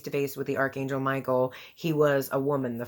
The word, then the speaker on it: Michael: Now, the Archangel Michael, his name is pronounced in Hebrew is Michael. And you'll notice that a lot